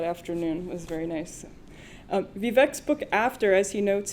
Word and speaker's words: Vivek: It's Vivek. Vivek? Vivek. Yeah. Vivek? Yeah, just ask Marjorie Taylor Greene how to pronounce Vivek.